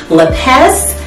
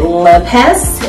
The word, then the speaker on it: Lippes: time it is by Adam lez I believe that's how you pronounce it leest l i p p and this trench coat